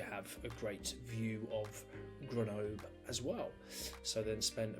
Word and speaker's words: Grenoble: Short drive from Annecy to Grenoble, or Grenoble, I think is how you say it correctly.